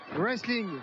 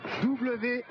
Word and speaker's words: Wrestling: Wrestling. W-R-E-S-T-L-I-N-G. Vous l'avez écrit? Supprimez le W, supprimez le T, ça donne quoi?